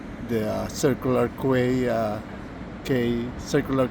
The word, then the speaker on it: Quay: And this is where the uh circular qu uh K circular K station is the way you pronounce it.